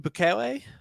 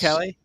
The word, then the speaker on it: Bukele: So you said Nayib Bukele? I think that's how you say his name in El Salvador? Yes. Bukele?